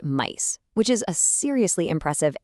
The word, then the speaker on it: Mise: We're looking at Meese, pronounced Meese, which is a seriously impressive AI native inventory management MVP developed by student engineers at UMGC.